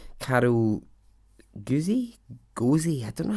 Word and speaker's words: Guzy: Gozy? I don't know how you say her name. Carol Guzy? Gozy? It's Guzy.